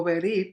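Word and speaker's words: ברית: En términos de pacto o del Brit o Berit, dependiendo cómo lo pronuncien, es lo mismo, pero en el hebreo Brit, hay varias cosas.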